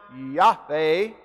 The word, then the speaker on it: Yahweh: That is the Hebrew word spelled YHWH in English, using English lettering. It is pronounced Yahweh, and it means I am.